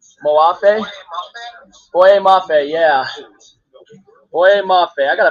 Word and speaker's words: Boye Mafe: Well, I forgot how to pronounce his name. Moafe? Boye Mafe, yeah.